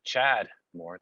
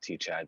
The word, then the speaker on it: Tchad Moore: name is actually uh chad moore the t is silent that's okay you guys can fix that fix that in post uh i've been called t chad many times before and